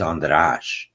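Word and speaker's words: András: I was born in Budapest, Hungary, and so the correct pronunciation of my name is Andras.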